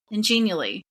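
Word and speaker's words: Genially: When it comes to journey maps, there are some great templates available ingenally and that's spelled G as in good E N I A L L Y.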